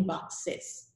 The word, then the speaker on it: boxes: No, so I add ES, and I have to pronounce the ES. So it's one box and many boxes, not many boxes, okay, boxes.